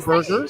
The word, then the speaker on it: Whataburger: So it's funny that you asked that because I actually saw something where Whataburger came out and said the official pronunciation is Yeah, that's what I'm Waterburger.